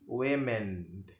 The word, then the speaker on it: women: Dari woman itu akan menjadi women. Women. Women. Gitu ya. Jadi a-nya itu berubah menjadi e, sama kayak man di atas tadi, tapi ini pengucapannya berubah dari woman menjadi women.